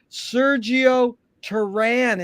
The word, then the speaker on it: Sergio Teran: honor and a pleasure to be here with sergio taran is that the correct way to pronounce it it is in the states jerry